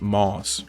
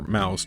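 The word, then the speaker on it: Maus: the artist of the famous graphic novel series Moss or Mouse depending on how you want to pronounce it it's about his father being a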